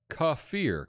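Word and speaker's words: kefir: bucks on that uh cfir cfir is how you say it thank you cafir I have a dehydrator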